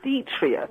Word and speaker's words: detritus: Anyway, the pronunciation is detritus.